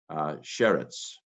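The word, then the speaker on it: שֶׁרֶץ: Sheen, sagol, resh, sagol, tzadeh. sheretz.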